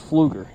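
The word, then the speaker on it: Pflueger: pronounce the name because it starts with a P. I was like, how in the world do you say the name of the brand? And well, it was Fluger.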